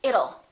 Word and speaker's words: it'll: sound don't say it'll let's change that t into a fast d and say it'll it'll rain it'll be hot it'll be nice it'll rhymes with the word little we don't say little